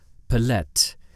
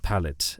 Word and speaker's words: pallet: because I happen to pronounce the word pallet as plet. This is a mistake of mine. But since I am too lazy to re-record everything, you will hear plet instead of pallet.